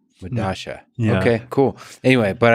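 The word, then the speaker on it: Medellín: I believe it's pronounced Medasha. It's a South American subway station. I forget where. But spelled with two L's. Yeah, because that's that's how Spanish works, right? Like the two L's have Medasha.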